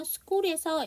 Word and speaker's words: school: school에서 H가 묵음입니다.